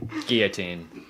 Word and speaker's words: guillotine: The L's are silent. Guillotine.